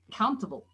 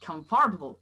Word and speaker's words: comfortable: Countable. It's not comfortable, but countable.